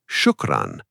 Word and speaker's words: shukran: For example, cool she uses "ou" so you stretch the sound a little. Cool she. But in shukran, the "u" is shorter like the "u" in push.